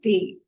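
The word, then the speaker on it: Tee: For tea, they will say the pronunciation is tea.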